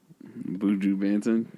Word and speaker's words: Buju Banton: Buju Banton.